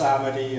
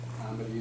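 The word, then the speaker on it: Ahmuty: I'm Amity. I'm the Executive Director of the ACLU of Wisconsin. Amity is spelled A-H-M-U-T-Y.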